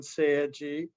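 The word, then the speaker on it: 青磁: same two characters used in korean and japanese pronounced chung-ja in korean and seiji in japanese in in east asian languages uh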